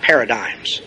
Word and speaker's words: paradigm: talked a lot about paradigms. You remember paradigms? Well, if you look up paradigm in the dictionary, our English word paradigm comes from a French word. That's why we don't pronounce the G.